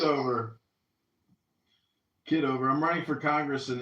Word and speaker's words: Kitover: The other, is it Kitover? Or how do you pronounce it? Kitover.